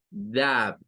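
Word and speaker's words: dove: Ahí se utiliza el sonido AO. Entonces vamos a pronunciar eso como dab, para decir esa es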